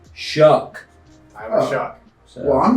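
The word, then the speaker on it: Shough: Tyler Tyler Shuck posted and said it's pronounced Shuck.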